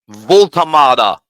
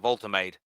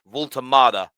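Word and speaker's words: Woltemade: But Nick Voltamada, I butchered it on the Football Terrace, and I think I called him Voltamade. That's the way the English would say it. It's Voltamada, I think. Excuse the German accent, but let's move on.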